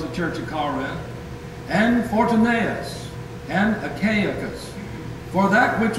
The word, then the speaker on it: Fortunatus: Felix and Festus were 2 Roman governors, but then there's a brother that Paul's made reference to, Fortunatus, F-O-R-T-U-N-A, accent on the N-A-N-A-T-U-S. Fortunatus.